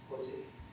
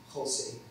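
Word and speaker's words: José: ننطقه في الفلبين كما في الإنجليزية هوزي، وفي العربية يصبح كما في الإسبانية خوسي، وفي البرتغالية بالحروف ذاتها يكتب ولكنه ينطق جوزي.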